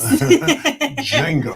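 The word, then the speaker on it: Django: The D is again the intellectual sagacious one says that the D is silent. I learned from the best Jango.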